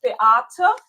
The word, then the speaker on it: Beate: I I learn everyone my name pronouncing correctly. It's Bata.